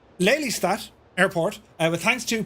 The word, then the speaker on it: Lelystad: our winner of the wford murf uh to pronounce it correctly leat Airport uh with thanks to Papa Hotel Dutch